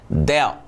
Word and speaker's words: del: 这个字念 del f。